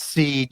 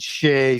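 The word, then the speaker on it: Sidhe: of the Shea painting, which is spelled S-I-D-H-E, pronounced Seed, Shea, Sade, a whole bunch of different ways, same That's word.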